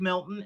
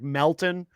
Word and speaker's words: Melton: And and Melton Joe Joe can't even say his name right. His name is actually Patrick Melton. M L T O N.